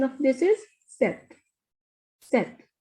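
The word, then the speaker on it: sept: pronunciation of this is set set you will not pronounce p here this is set next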